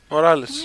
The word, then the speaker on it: Morales: Morales. Άντε, επιτέλους, μάθαμε πώς προφέρεται επίσημα.